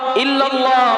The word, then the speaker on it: ইল্লাল্লাহু: লা ইলাহা ইল্লাল্লাহু। অনেক মানুষ বলে ইল্লাল্লাহ। বলে কিনা বলেন? আবার লা ইলাহ মধ্যে টান দেয় না। লা মানে নাই। ইলাহা মানে কোন মাবুদ। ইল্লাল্লাহ মানে আল্লাহ ছাড়া।